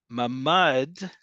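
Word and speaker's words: ממד: Ma'amad is stance. Mamad is a safe room. Okay? Two different words.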